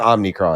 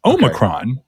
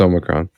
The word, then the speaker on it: Omicron: crazy so it's not omnicron no no it's omicron yeah it's omicron like megatron like like yeah like